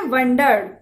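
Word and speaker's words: wandered: एक तो होता है वंडर, WONDER। वंडर मीन्स आश्चर्य, लेकिन यहां ये शब्द है, इसकी स्पेलिंग है WAN। यहां O नहीं है, W के बाद A है। इसे कहा जाएगा वेंडर्ड।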